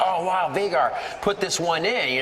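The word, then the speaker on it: Vigar: r it is pronounced vagar I've heard many other pronunciations but it is Icelandic and it is pronounced vagar funny funny story about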